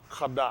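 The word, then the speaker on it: קדש: So, Kudash, Kadash, this is, you'll pronounce this Kadash, I said Kodash, but it's saying Kadash.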